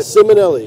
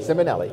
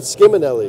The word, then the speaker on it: Simonelli: So you just whispered, have I been pronouncing your name wrong the entire time I've known you? Yeah, a little bit. Simonelli. Simonelli. So not Skiminelli. Nah. I'm dropping the C out of it.